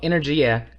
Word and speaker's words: energia: Yeah, well, Energia is, and that is how you pronounce it, is Italian. It's the Italian word for energy.